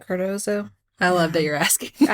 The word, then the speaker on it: Cardozo: Is that how you say it? Cardozo?